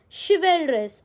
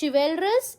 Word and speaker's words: chivalrous: Our next word is chivalrous. Again, it's not chivalrous, it's chivalrous. How do you pronounce?